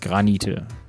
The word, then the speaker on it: Granite: Granite. Alien, die richtige Aussprache ist hier wichtig.